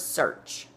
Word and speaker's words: search: you need more time search has the a in earth right it's the same like you wrote year EA R is ear and it says her in the word search like it does in the word earth so s EA R